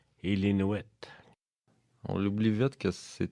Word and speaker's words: Illinois: Illinois. Oui. Mais c'est parce qu'Illinois, c'est en anglais. En tout cas, ils essaient de prononcer ça en anglais, mais c'est Illinois.